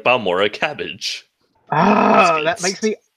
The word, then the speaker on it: Balmora: How it's pronounced is Balmora.